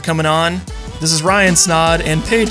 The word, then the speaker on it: Snaadt: on this is Ryan snod and Paige snod it rhymes with odd and that's also the